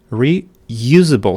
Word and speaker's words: reusable: You can see in the transcription you have this stroke temperature reusable reusable. So the second syllable is stressed. Reusable reusable. So it's B, not reusable.